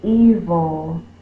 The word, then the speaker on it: evil: The vowel is long. We don't say vil. That looks like a closed syllable. But if we have a dog that we're fussing at, we're going to make E louder or more stressed than the second part, vil.